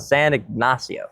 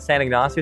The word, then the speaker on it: San Ignacio: But we decided that we were going to spend a few nights in a city called San Ignacio.